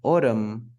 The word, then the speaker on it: autumn: don't say them this is another word that is mispronounced in American English especially North America people say Autumn but ottoman no no is not ottoman no autumn autumn we finish with the m the m m autumn autumn and that's